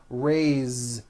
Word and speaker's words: raise: a bit unusual because even though it is spelled with an S it's pronounced with a voiced Z raise so we say I